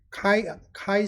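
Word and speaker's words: chi: 그 다음에 카이 스퀘어, 제가 맨 처음에 공부할 때 이거 발음을 어떻게 하는지 몰라서 치라고 그랬는데 나중에 보니까 통계하시는 분들이 다 카이라고 있더라고요.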